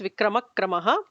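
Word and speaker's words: विक्रमक्रमः: So the visarga is kind of ignored. So it becomes Vikramakramaha. The visarga is not pronounced.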